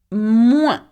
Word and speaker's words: moins: Moins. Can you say that? Moins. Remember, the S is not pronounced, okay? And that means less.